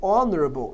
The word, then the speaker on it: honorable: É claro que as palavras que nascem dessas também têm o H mudo. Por exemplo, a palavra honor pode gerar a palavra honorável, honorable, daí o H continua mudo.